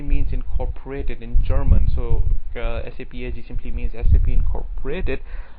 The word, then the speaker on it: SAP: So SAP AG simply means SAP Incorporated. SAP should be pronounced as SAP, not SAP.